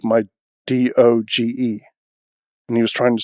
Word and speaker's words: doge: actually doge so not dodge or doge but doge as in like taj mahal that's how you pronounce